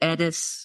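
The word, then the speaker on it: Eddis: And I pronounce it Edis, and the country is Sunis.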